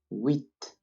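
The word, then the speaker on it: huit: set with once again wheat two things to notice here the first one is that the h when in the beginning of a word is not pronounced in french and again the t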